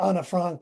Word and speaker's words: Anne Frank: Well, you mentioned I only written a couple of fulllength plays and one of them is called Anne Frank Lives or Anna Frank Lives. that's how she actually pronounced her name.